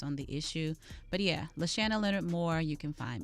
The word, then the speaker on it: LaShanna: year just based on the issue but yeah lashanna leonard moore you can find me and it is leshana it's make sure you pronounce my name correctly because i've been mispronouncing